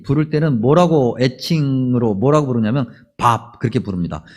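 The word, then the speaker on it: Bob: 근데 미국 사람들이 로버트라고 하는 이름을 그냥 친근하게 친구들끼리 부를 때는 애칭으로 뭐라고 부르냐면 밥, 그렇게 부릅니다. 여러분, 우리가 밥 먹는다 할 때 그 밥 있잖아요. 그것과 똑같은 발음이에요.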